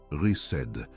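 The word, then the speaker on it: חסד: Cette parole est chesed. Prononce-la avec moi, rised, avec une respiration douce sur le début.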